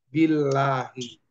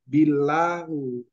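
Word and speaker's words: بالله: Iya, jadi bacanya menjadi billahi. Nggak bisa dibaca billahu.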